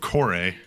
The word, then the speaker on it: Kore: I am called Kore. That's spelled Kore.